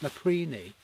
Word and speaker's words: Napapijri: And if you look at it, got a bloody big Norwegian flag, and that apparently is pronounced Naprini.